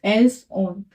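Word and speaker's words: ils ont: अ इल एल ऑन देखो यहां पे ओ है व वोल से स्टार्ट है और इन वर्ड के लास्ट में एस है तो यह एस प्रोनाउंस होगा इल्स एल्स ऑन ठीक है इल्स या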